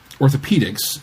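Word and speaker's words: orthopaedics: to be pronounced correctly the Brits sometimes stick an extra a into words that have a long e sound but it doesn't change the pronunciation I don't know what anachronistic language thing influences these spellings but Damons is still pronounced like demons and Orthopedics is still pronounced like Orthopedics I wasn't going to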